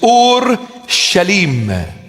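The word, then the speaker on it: ܐܘܪܫܠܡ: In Aramaic, the proper pronunciation of the word is Ur-Shalim. Ur-Shalim. And we abbreviate it and we call it Orshlim.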